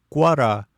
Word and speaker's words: куаз: Например, куаз в его коже произносится в два слога ку а.